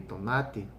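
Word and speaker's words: Tonatiuh: with the uh likewise the accent has to shift to not to the nah part because in nawa there's the accent it's always on the second to last syllable not like in spanish but it's always in the second to last syllable so when i say don't do i'm placing that syllable the preceding i vow that's incorrect so it has to be tonati now this w that's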